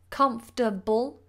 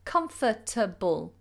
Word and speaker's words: comfortable: say three syllables constable comfortable or you can say with four syllables comfortable comfortable but notice on both examples I do not pronounce the letter R comfortable or comfortable most